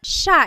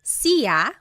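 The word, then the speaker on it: siya: look at the spelling it looks like it should be pronounced CIA but it's actually pronounced Sha Sha there are some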